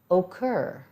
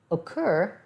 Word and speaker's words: occur: an easy one land occur occur as a double c but makes one hard k sound prevention we've got that